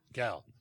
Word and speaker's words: Gal: Is that the proper pronunciation? Yeah. Gal.